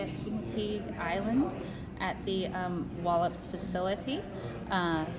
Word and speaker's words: Chincoteague: I am currently in Wallops, Virginia, at Chincoteague, I believe is how you say it, Chincoteague Island, at the Wallops facility.